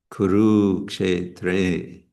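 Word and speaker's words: kurukṣetre: Why is it a long U? The second one, because we have ka and sha combined. So that again slows down that previous syllable. So it's dharma kshetre kuru kshetre.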